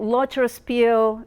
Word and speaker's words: Loterszpil: thank you I get that last name right loer Spiel uh most people don't it's kind of difficult loer Spiel um is a German Jewish name and it's not easy to pronounce so most people call me and